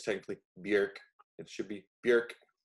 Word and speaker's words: Björk: So I'm going with Bjork. Thelma Songs from 2000. So Bjork's got the little umlaut over her, or I guess technically Bjork. It should be Bjork, not Bjork. But people know her as Bjork here.